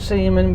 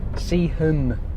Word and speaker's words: Seaham: Not Seaman before you start. Stop laughing. Seaham. Seaham. Or Seaham. I don't know how you want to pronounce it.